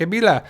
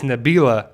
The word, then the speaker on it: Nabila: what Rosita says but Rosita doesn't say our name right she's like a bila she doesn't really say her name clearly but it's Nabila that's Jerry's wife and so